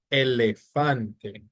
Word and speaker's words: elefante: Then you have elefante. So again, ends with a E. So the stress is on the penultimate syllable.